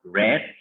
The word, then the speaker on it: read: Read, pronunciation of the second one, red. Aunque se escribe igual, la pronunciación tiene que ser como el color rojo, red.